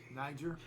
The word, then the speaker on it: Niger: all I can say is thank God you pronounced that right oh my God Niger Niger well it's just one letter away from